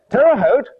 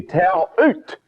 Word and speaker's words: Terre Haute: starts tomorrow night in ter how do you pronounce that i wonder terre haute it should be terre haute really shouldn't it indiana if you missed the